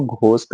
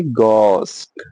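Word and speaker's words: ghost: जो वर्ड है गोस इसमें एच सेलिंग पे हम एच को प्रोनाउंस नहीं करते। इसलिए हम कभी भी उसको घोस्ट नहीं बोलेंगे। हम बोलेंगे गोस्ट गोस्ट गोस्ट।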